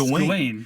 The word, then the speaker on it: Gawain: Also, by the way, you just said his name, how they pronounce it in the movie, which they completely mispronounced. Yeah, it's Gawain.